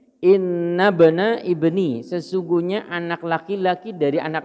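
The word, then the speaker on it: إن ابن ابني: Faqala, dia berkata, inna bani mata, sesungguhnya inna bani ibni inna bana ibni bacanya inna bana ibni, sesungguhnya anak laki-laki dari anak laki-lakiku, gitu.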